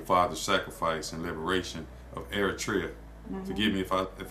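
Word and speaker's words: Eritrea: Um, your family's immigration story was connected to your father's sacrifice and liberation of Eratria.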